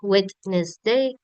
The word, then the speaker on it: Wednesday: The teacher said not Wednesday, say Wednesday. So the D is silent.